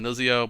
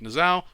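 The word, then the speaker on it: Niuzao: cooldown on invoke Zao I like to call him nuzio but I'll say it correctly this time it reduces the quote on on invoke nasal which just means you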